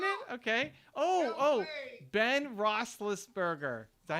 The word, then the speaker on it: Roethlisberger: Ben Roethlisberger. Is that how you say it? Steelers. Is that how you say it? Yeah, Roethlisberger.